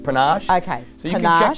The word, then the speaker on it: Panache: It's not pronounced Panache. It's pronounced Panache.